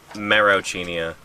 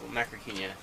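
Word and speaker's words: Macrauchenia: I always said Marocchinia. The, Like Marochan ramen? Oh, you're talking about Macrocenia. Yeah. Macrocchinia. Yeah, the Litopter. I've been mispronouncing that for my entire life, apparently. Macrocenia.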